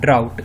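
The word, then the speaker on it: drought: दोनों के स्पेलिंग में डिफरेंट है, और इसे प्रोनाउंस करते हैं ड्राउट।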